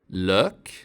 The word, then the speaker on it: lök: The long Swedish Ö is similar to the French Ö and German Ö. Its short form sounds like Ö. Lök.